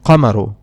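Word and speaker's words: القمر: in the other noun we do pronounce the lamb we say al kamaru al kamaru now the reason why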